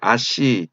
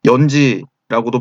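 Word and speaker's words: 閼氏: 이때 묵돌선우의 알씨, 흉노 말로 선우의 부인 황후에 해당하는 명칭입니다. 알씨, 아씨, 연지라고도 발음을 하게 됩니다.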